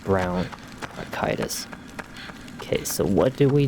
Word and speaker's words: bronchitis: I think it's pronounced bronchitis, not bronchitis.